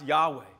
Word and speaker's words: Yahweh: proclaimed, the Lord, which the Hebrew word that we pronounce Yahweh, right? Which is the four Hebrew consonants that make up the personal name of God, and then the vowels from Lord, from Adonai, right?